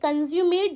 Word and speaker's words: consummate: Okay, can you hear the word when I say consummate? जब मैं बोल रही हूँ तो क्या आप consume सुन सकते हो? consummate, consume आया बीच में.